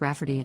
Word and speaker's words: Rayfarty: wanting to name my niece Rayfarty, pronounced Rafferty, not at all like Rayfarty.